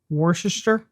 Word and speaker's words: Worcestershire: It's just like Worcestershire. the W name. Yeah, that It's one. got like the CES, but you only pronounce one of them.